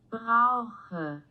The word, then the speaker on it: Brauche: Yeah, and it's pronounced brosh. Brosh. Brauche. I think.